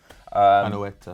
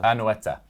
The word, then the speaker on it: Anoeta: Is that how you pronounce it? Anoeta. Anoeta.